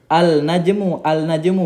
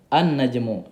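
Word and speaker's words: النجم: Jadi bukan bacanya al-najmu bukan, tapi dibaca dengan an, langsung dimasuk a, langsung masuk ke nunnya ini. An-najmu ya.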